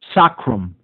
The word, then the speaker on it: sacrum: Sacrum in Latin means holy, sacred, like the divine. Sacrum, it would be actually pronounced.